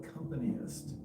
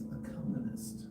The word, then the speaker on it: accompanist: There is no accompanyist. It's accompanist.